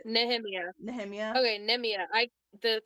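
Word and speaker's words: Nehemia: name NE neia neia nemia from that's how I say it nemia nemia okay neia I the for me the H is silent but either way um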